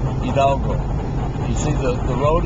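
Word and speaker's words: Hidalgo: of course the H of silent so it's pronounced idalgo you see the the road is very pretty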